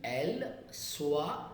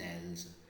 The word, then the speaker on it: elles: Je, tu, il, elle, on, nous, vous, ils, elles, and s is silent there.